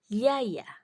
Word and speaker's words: jaja: oke nah yang berikutnya tulisannya Jaja tapi J tadi dibacanya ye berarti bacanya jadi yaya yaya Oke berikutnya tulisannya biali